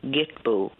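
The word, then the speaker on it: Kitpu: it's called the sacred it looks like Kitpoo but there's a little dictionary in the back which gives the pronunciation as Gitbu and there's a little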